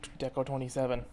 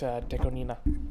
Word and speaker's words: Deco*27: right new de Nina album that's how you pronounce it it's not deco27 it's deina that's how it's pronounced um I'm tempted